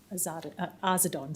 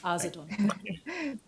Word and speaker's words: Arzadon: I'll just rise to explain that it's pronounced Arzadon, sorry. Mr. Garris has got me saying it. Arzadon.